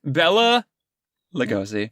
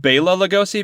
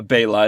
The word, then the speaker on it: Bela Lugosi: one of them being bella lugosi yeah although it might be pronounced bela lugosi because this character's name is bella bayla and everybody refers to him as bayla yeah this was funny